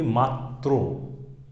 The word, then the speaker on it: মাত্র: আমি যদি বলি মাত্র, বিষয়টা কি হচ্ছে? মাত, এই দিয়েই হচ্ছে আবার উচ্চারিত হচ্ছে ত্র, মাত্র।